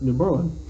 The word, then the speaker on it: New Berlin: new berlin i'm like no you never even considered that it was new berlin it's newborn let's not do berlin